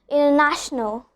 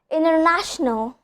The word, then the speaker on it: international: Interview, international, advantage. So we don't pronounce the T sound. In these kind of cases, the T sound just disappears, okay?